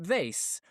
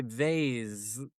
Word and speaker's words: vase: Or if I'm trying to say a word nice and easy with a long vowel sound because there's a silent E on the end, I would say, hey, pass me that vase.